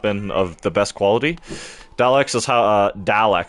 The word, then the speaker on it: Daleks: Daleks is how it's pronounced.